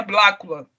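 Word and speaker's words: Blacula: Uma das extensões desse livro pro cinema é Blácula. É, não, eu não pronunciei errado, tá gente? se pronuncia a si mesmo.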